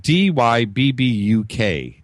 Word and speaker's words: Dybbuk: Number one, when we were talking about possessions, the Dybbuk box.